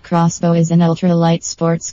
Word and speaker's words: X-Bow: x-bow has 3000 km the KTM x-bow pronounced crossbow is an ultra light